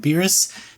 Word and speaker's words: Beerus: between Goku Vegeta and beerus i hope i'm saying that name right how to pronounce Pyrrhus yeah yeah that was right those aren't all along